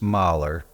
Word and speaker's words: Mullye: My grandfather, Petrus Mahler, which is how Mulley is pronounced in Flemish, was born in 1885 in Roseslare, Belgium.